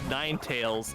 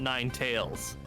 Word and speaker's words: Ninetales: the other day that it's Ninetales, not Nine Tails. Like as in like tales you tell as opposed to actual tales. Yeah. It's spelled tails. Yeah, like as in the story.